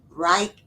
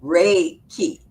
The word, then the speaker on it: Reiki: know you do uh Reich Reich okay let me pronounce it right reiky Ray key oh Ray key healing energy and and